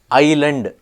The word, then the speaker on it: island: y p is silent Island s is silent is it's a silent